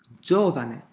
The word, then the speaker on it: giovane: But, there are words that pronounced differently, for example: "simpatico"--third from the last. "Giovane", third from the last, again.